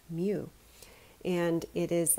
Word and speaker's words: mu: micrometer the abbreviation is a mu this is pronounced mu and it is like a curly you but